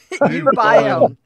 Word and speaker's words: uBiome: Uniborn, I think, how do you pronounce it? Founders of bankrupt startup Unibon? Is it UBiome? UBiome.